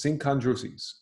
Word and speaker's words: synchondroses: Woof, that's four syllables, synchondroses.